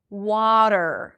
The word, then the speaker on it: water: Water. Open your mouth for the a sound. W. Bring the tip of the tongue up and bring it in for the R. Water, not water. Okay, so it's a flap T and there is no vowel. Remember, eer endings, it's just an R.